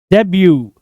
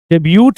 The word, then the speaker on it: debut: Correct pronunciation is डेब्यू, डेब्यूट नहीं, डेब्यू।